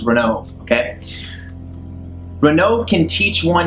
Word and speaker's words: Ronove: it here we go renault pronounced as ron ovae interesting ronov i i'm the way i'm going to pronounce it is renault okay renault can teach